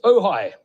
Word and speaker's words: Ojai: There, Ojai, in Ojai, California.